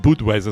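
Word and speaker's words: Budweiser: Badweiser wird Deutsch ausgesprochen der Englisch n meinst du butweiser man butweiser sagen muss Kirschmichel gute Nachspein tüskie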